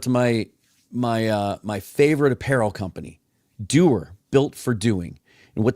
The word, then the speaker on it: Duer: It's spelled DUER, Doer, Built for Doing.